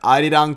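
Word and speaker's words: Arirang: Adidang Tour.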